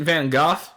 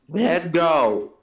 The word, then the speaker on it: Van Gogh: Even like Pinocchio, Batman, manga characters, random self-portrait of Vincent van Gogh.